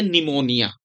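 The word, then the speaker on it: pneumonia: है प से और जब पी के बाद एन होता है तो पी क्या रहता है साइलेंट रहता है है ना पता ना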